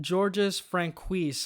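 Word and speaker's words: Georges Franju: This is directed by Georges Franquis, I believe is how you pronounce his name.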